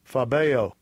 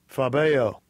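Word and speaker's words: φοβέω: Phobeo. Phobeo. And phobeo, it kind of sounds like the word phobia, you know?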